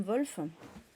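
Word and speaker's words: Wolfe: livre de de Tom Wolf Tom Wolf d'ailleurs je suis plutôt le W en général en en anglais il se prononce plus il se prononce pas avec un comme un V euh donc là dans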